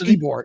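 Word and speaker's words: Ybor: city eore it's pronounced ebore yeah so when I said ebore I know it look it looks um nothing like it's spelled it's pronounced nothing like it's spelled almost like every eing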